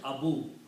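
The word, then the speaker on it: أبو: So now this will be pronounced Abavu Lahabin. Okay? Waw is a weak letter. To pronounce it easy, we pronounce it Abu. Okay? So pronunciation of this word becomes Abu.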